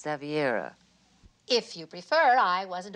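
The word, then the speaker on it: Xaviera: It's not Cinderella, it's Zaviera.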